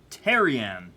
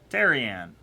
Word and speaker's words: Teran: the concert hold up TJ terion TJ Teran that's how you say his name Teran for you Mr